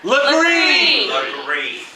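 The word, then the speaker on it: Legare: legend of julia is spelled with gare but we all know that's not how we say it in the south what how do we say that lagree julia flippery when the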